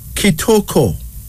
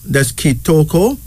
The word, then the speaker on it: Kitoko: unisex name that means Grace here's another one kitoko ketoko k i t o k o That's kitoko this is from the lingala tribe of Zaire